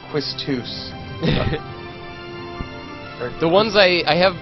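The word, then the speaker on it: Quistis: Yo, I say Kistis the way you're supposed to say it. That's actually not pronouncing it wrong. It's Quistus.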